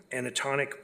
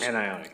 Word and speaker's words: anionic: supply and delivery of anatonic polymer. I think I'm saying it right. Is it an anatonic polymer? It is? Anionic. Anionic, yeah.